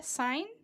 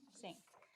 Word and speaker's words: Singh: We have Ria Sin and sixth grader from Melva Davis. Did I say your last name correctly? How do you say Sing? Sing. Ria Singh.